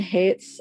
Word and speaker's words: Haidt: And then in terms of political psychology, I would recommend Jonathan Haidt's, and that's spelled Haidts. Oh, no, wait, sorry. The S would be possessive.